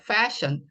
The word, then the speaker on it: fashion: 이거는 H 발음이 쉬 하고 조금 더 강한, 그냥 SIN 션보다는 이